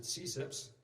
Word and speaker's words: CCIPS: The Computer Crime and Intellectual Property section, which is abbreviated CCIPS, and we pronounce it CSIPS, is a section within